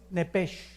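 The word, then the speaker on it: nephesh: la palabra alma es nepes en el hebreo apúntalo nepes se pronuncia nepe porque la ch en hebreo es nepe y la palabra espíritu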